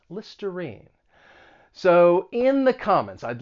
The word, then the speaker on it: Listerine: about this is that that r-i-n-e it's not pronounced rhine it's pronounced with that long e listerine listerine so in the comments